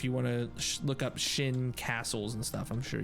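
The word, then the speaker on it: Sjin: Yeah, I think it's pronounced Shin. S-J-I-N.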